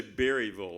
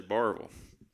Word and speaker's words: Berryville: he's from berryville arkansas now we say berryville over here but where he comes from they say barbal am i right yeah it's one syllable to start the word off but he is from